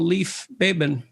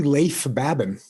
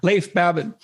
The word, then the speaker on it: Leif Babin: The Dichotomy of Leadership with fellow retired SEAL Leif Babin. Did I pronounce that right? It's actually Leif Babin. Oh, so I didn't pronounce it right at all. Leif Babin.